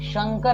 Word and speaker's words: शंकर: मैंने कहा हां कि यह शंकर है ना कि संकर है लेकिन लोग इस कई